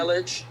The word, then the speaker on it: Yelich: Yelich. Yes, Yelich. I mean, this is a good team. I don't want to diss on that team. That's a good team. Like he said, like Jared said, Yelich is a good Yeah.